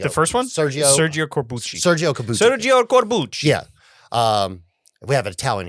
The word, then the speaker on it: Sergio Corbucci: Sergio Corbucci.